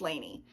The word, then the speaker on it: Lainey: Is it Lane or Laney? I had a friend in high school whose name was spelled like this, and it was Laney. I think I've heard other people say Lane though, so I guess I'll go with that.